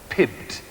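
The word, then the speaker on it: PYBT: princes Youth Business Trust or py BT pronounced Pibbs and it is the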